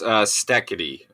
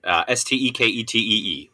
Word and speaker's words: Steketee: It is pronounced Steketee, Steketee, Steve Steketee.